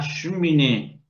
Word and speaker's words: cheminée: La primera E se omite, la cheminée.